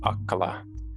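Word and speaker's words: akalaw: were hoping to kind of get the proper pronunciation on so the first one uh it's a-k-a-l-a-w that's aquala and then a said yeah so that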